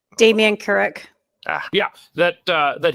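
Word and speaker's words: Damien Kurek: That the incumbent uh MP, is it Kurrick? How do you pronounce his name? Damian Kurrick.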